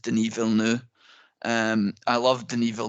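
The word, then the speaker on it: Villeneuve: I love didn't um most people with low intellect will call him Dennis V wave but is actually pronounced denu um I love the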